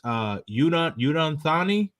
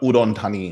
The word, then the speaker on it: Udon Thani: Okay, so it is how do you say this? Udon Thani? no, Udon Thani.